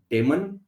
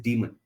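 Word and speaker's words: daemon: doer host do demon many people pronounce it as demon but it is demon doer demon demon simply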